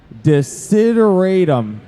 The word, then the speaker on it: Desideratum: Desideratum.